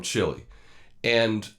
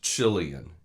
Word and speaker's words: Chilean: was ABC they mispronounced chilean and said chilean i think it was an affectation to sound spanish or something i don't